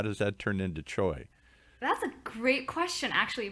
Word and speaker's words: Choi: know how to say your last name choi choi how do we get choi out of three letters or c-u-i how does that turn into choi that's a great question actually paul um so